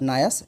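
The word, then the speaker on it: Noyce: और साथ में एक और व्यक्ति का नाम आता है, आप सुनते होंगे, रॉबर्ट नॉयल या नायस, रॉबर्ट नायस, NYCE होता है।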